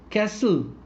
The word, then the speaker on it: castle: That they have a silent T. Silent T. Listen, soften, castle, often, which. Here the sound of T is silent.